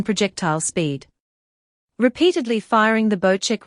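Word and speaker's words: Bocek: circle's location bow check the new bow check pronounced bow check compound bow is a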